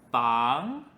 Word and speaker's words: 房: 或者 door，那就会变成房。房的意思是 house 或者 room，但是我们不会单独用它。house 是房子，还有 room 是房间。